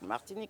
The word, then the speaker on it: Martinique: place for Honeymooners it it rhymes with romantic martinic romantic we go uh but we